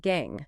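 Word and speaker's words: gangue: These earthly or rocky impurities are collectively known as gang, pronounced gang, gang.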